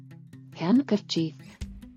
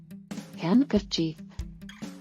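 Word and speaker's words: handkerchief: ಅಕ್ಷರಗಳು ಎಂದು ಹೇಳುತ್ತಾರೆ ಉದಾಹರಣೆಗೆ ಕ್ಯಾನ್ ಕರ್ಚಿಫ್ ಕರವಸ್ತ್ರ silent letter D ಕ್ಯಾನ್ ಕರ್ಚಿಫ್ ಕಬೂರ್ಬ್ ಕಾಪಾಟು silent letter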